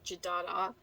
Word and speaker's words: Jadada: a fictional country of Jadada, with a da and another da, is how it's said in the book, as I said.